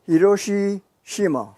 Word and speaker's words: Hiroshi Shima: what is your name sir my name is hiroshi shima could you spell it first name h i r o s